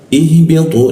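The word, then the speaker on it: اهْبِطُوا: Ihbitu. Nah, setiap huruf yang alif yang tidak ada tandanya, kita lihat, perhatikan huruf berikutnya di sini. Kalau ini I, nah berarti alifnya ini menjadi I.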